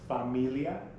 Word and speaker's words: familia: we have family familia familia family spanish is pronounced familia and this one here is an exact cognitive